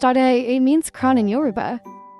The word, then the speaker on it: Ade: Aid, pronounced Ade, means crown in Yoruba.